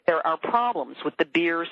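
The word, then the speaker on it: BEIR: a bad joke because the acronym is pronounced beer but it's be R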